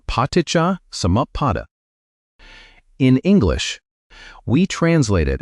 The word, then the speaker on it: Paṭicca-samuppāda: Say it like Paṭicca-samuppāda.